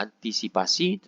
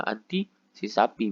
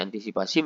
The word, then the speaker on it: antisipasi: salah Keliru misalkan saja yang mau diucapkan adalah antisipasi tetapi yang terucap adalah anti si sapi misalkan saja ya ini bisa terjadi ini berarti kesalahan dalam pemilu suguja ucapan atau ujaran yang benar harusnya antisipasi menjadi anti sih sapi di